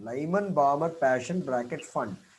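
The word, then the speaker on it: Pfund: bracket, and fifth is fund. Don't go by the, this is P, but you pronounce it as fund. P is silent. Lyman, Balmer, Passion, bracket, fund.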